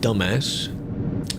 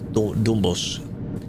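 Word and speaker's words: Dombås: This is from Hamar to jokingly calling it dumbass, but it's not that. It's Dombos or something. Dom.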